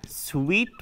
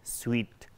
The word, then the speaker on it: sweet: Sweat دوستو عزیز عرق مانا میته، sweet بس شیرین مانا میته، شیرین sweet.